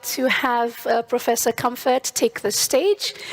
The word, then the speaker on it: Kemfert: We have Professor Claudia Kemfert.